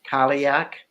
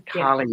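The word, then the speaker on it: Cailleach: the kaliak project um which I want to spell this word because it looks like that word kaliak but it really uh let's just confuse everybody and uh I'll just spell it out because that's how I get things down c a i l l e a c h that's the calling that project yeah and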